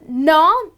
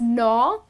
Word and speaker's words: gnaw: Then the next one is gnaw. Now, gnaw, well, here the G is silent. You just end up pronouncing it as gnaw.